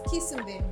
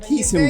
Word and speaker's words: Quisumbing: But today we have Quisumbing. Did I say it right? It's Quisumbing. Quisumbing.